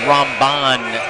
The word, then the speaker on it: Ramban: It's Ramban.